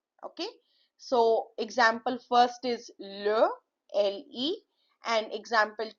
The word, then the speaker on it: le: Now here you see the example LE. LE is L. It is, please do not pronounce it as lay or li.